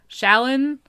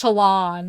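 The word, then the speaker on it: Shallan: And, like, Shalin. But apparently it's Shalon.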